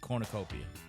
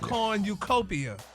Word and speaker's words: cornucopia: now that last one that was close yeah Cornucopia it's pronounced Cornucopia Cornucopia you emphas it in the phonic so